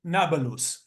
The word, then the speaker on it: Nablus: of Shem to Apolis which the Arabs without without the ability to to pronounce p call it nabalus so there was Jewish